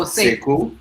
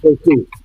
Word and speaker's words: Sekou: Oh, Sekou. Sekou. Say cool.